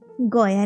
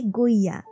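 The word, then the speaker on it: Goya: কাঞ্চি মথুরা সবগুলো বল গয়া নাকি উচ্চারণ নয় ওটা হবে গইয়া তো সেই সূত্রেই শর্মিষ্ঠা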